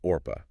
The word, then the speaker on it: Orpah: It was intended to be Orpah, yeah, after the biblical figure in the Book of Ruth.